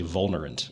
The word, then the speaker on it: Vulnerant: from an old text the v's are generally pronounced as w's but that's kind of weird so i'm glad to hear you say vulnerant and not well-known yeah i mean we had